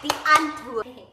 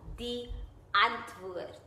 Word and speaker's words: Die Antwoord: Say it, die Antwoord. First of all, if you're gonna rhyme something with Diane Edwards, you should say her name properly. It's called Die Antwoord.